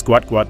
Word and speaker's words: Gout Gout: And if you are wondering how to pronounce it, it is Gout Gout named in the tradition of his South Sudan heritage where a name is often repeated for emphasis and identity.